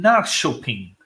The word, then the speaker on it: Norrköping: We also have someone from Norrköping, Sweden. Is that I pronounced it Oh, correct?